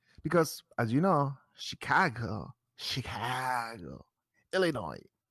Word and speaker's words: Illinois: They said Midwest, make Midwest again, because as you know, Chicago, Illinois. Don't pronounce the S, please.